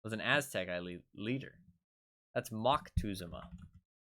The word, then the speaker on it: Moctezuma: Oh no, that's Moctezuma. Not Mont. It was an Aztec leader. That's Moctezuma.